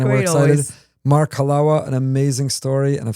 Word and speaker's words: Halawa: You could pronounce my name Halawa. I know it sounds like Malawach, and it sounds some other stuff, but let me just help you remember it forever. Halawa is chalva.